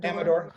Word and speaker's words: Amador: Am I pronouncing that right? Amador, yeah.